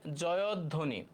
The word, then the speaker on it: জয়ধ্বনি: সঠিক উচ্চারণ কোনটি হ্যাঁ এটার উত্তর হবে জয় ধ্বনি জয় ধ্বনি এটার উচ্চারণ হবে জয়ধ্বনি দেখো তো এটা হচ্ছে আমাদের সরাসরি উচ্চারণ থেকে আসে জয়ধ্বনি এটা আমাদের বইতেও ছিল